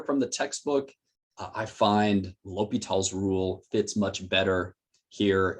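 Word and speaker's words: L'Hôpital: That's how you pronounce his name, phonetically L'Hopital.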